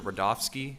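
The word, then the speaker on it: Rudofski: record special agent rodofsky that's r-u-d-o-f-s-k-i and it's pronounced Rudolph and then special agent rodolski how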